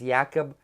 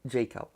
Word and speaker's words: Jakub: It is Jakub, not Jacob.